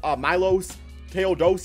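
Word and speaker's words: Miloš Teodosić: favorite is definitely mil Milos ta doich is I think how you say it from he's from Europe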